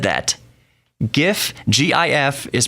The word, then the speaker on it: GIF: it was giraffe interchange format it would be pronounced jiff but no gif stands for graphics interchange format graphics the G in graphics the G and the G and gif is go so it's gif its gif gif gif if someone pronounced pronounces